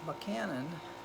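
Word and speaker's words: Buchanan: he's from Pennsylvania James who cannon but cannon is how he pronounced it so mccannon from Pennsylvania the only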